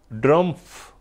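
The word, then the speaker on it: Drumpf: ड्रमफ यानी ट्र टी से नहीं डी से अब उसको जैसे भी आप प्रोनाउंस करना चाहे लेकिन ड्रमफ सही।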